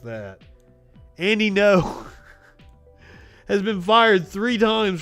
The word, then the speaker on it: Ngo: was in seattle also andy any know by the way is how you say his name i just always say andy ngo i do i do little quirks like that andy no has been fired three